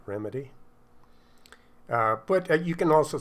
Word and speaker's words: ReMidi: using remedy for bass or remedy i guess that's how the the producers of it uh pronounce it so i guess that's the right way to pronounce it remedy uh but you can